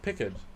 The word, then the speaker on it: Picard: Did I say it wrong? No, it's Pickard. John Luke Pickard. Oh, Pickard.